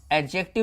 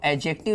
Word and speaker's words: adjective: एडजेक्टिव में D silent होता है, साउंडेड नहीं होगा, हम लोग एडजेक्टिव इसको बोल सकते हैं।